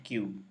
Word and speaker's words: queue: ini dengan Dek ini Ini bacanya Dek Sedangkan ini bacanya Q bedanya apa-apa kalau decu